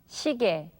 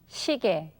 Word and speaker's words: 시계: Okay, now when consonants other than ing or riul are combined with ye, then the sound changes from ye to e.